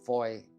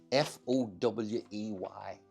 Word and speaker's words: Fowey: F-O-W-E-Y is how it's spelt, but I think it's pronounced Fowey.